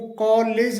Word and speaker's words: college: इसी प्रकार से एक और वर्ड है COLLEGE, इसे कॉलेज करके बोला जाता है, कॉलेज, जबकि इसका सही जो प्रोनाउंसिएशन होता है वो कॉलेज होता है, कॉलेज, कॉलेज।